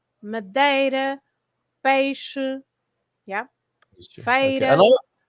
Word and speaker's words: Madeira: The way you pronounce it is A. So, yes, it's always A, like Ericeira, Madeira, Peixe, yeah, Okay.